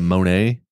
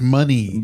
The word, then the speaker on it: Monet: largest private collection of Monae oh yeah yeah yeah that's true so I mean it's pretty cool I think it's pronounced money dude it's a lot of money in there Monet yeah yeah where do